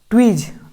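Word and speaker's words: tweeze: उसके बाद ट्वीज, ट्वीज, टी को हम लोग आधा टा पढ़ेंगे। उसके बाद डब्लू को वा पढ़ेंगे। उसके बाद डबल ई को बड़ी ई की मात्रा पढ़ेंगे, जेड को जा पढ़ेंगे, ट्वीज, और ई साइलेंट है, ट्वीज पढ़ेंगे, ठीक।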